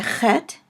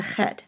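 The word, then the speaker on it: חית: because it is a chet and it is called a guttural, and it is sort of pronounced in the back of the throat as in the name Loch or Bach.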